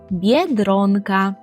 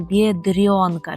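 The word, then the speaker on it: biedronka: ходите в такий магазин і це польською бєдронка бєдронка бєдронка народ будьте обережні бо дуже часто ми з викладачами у школі чуємо помилку від вас коли так вимова якась така є як бдронка чомусь вам хочеться оце р пом'якшувати хож для цього немає передумови Так ми повинні казати твердо дро дро повторюйте дро дро дро дро як у слові Дрон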